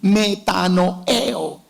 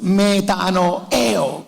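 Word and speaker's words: μετανοέω: arrepentimiento viene de una palabra griega que se pronuncia así metano eo aralo conmigo una dos 3 metano eo con acento en la en la última bueno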